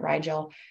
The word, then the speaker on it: Rigel: It also has, I call it Rigel, some people pronounce it Rigel, but Rigel, it is a newer star.